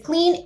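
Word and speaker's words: Klean: We are, it's spelled, is like cute, you know, how we all are like with our cute cats and things like that. So it's K-L-E, the long E-N. So the phonetic clean spelling.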